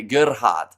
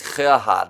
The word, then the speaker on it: Gerhard: See, I've been corrected about how to say his first name because I used to say Gerhard, but that's wrong. It is Gerhard, isn't it?